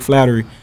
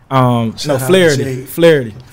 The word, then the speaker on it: Flaherty: My first year was a guy named Jake there, Jake Flattery. Flaherty. I said it wrong.